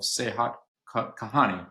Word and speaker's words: Sehat Kahani: Saeed Khurram is the co-founder and CEO of Sehat Kahani. Did I get that right in pronunciation?